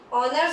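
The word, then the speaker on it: honour: ऑनर जो है हमारा वो क्या है, वो ओ की साउंड से स्टार्ट हो रहा है, एच हमारा साइलेंट है उसके साथ एन लगाते हैं।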